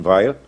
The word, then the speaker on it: Veil: ensinava a filósofa Simon ve os franceses pronunciam Veil mas eu me recuso